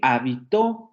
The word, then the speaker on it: habitó: Yo habito mi casa, habito, con el acento en vi, habito, yo habito mi casa. Él habitó en aquel lugar, habitó de vivió en pasado.